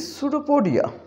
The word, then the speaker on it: pseudopodia: है P and S, in this case we start with the S. There are two very prominent examples. One is pseudopodia. So we start this word pronouncing from here pseudopodia.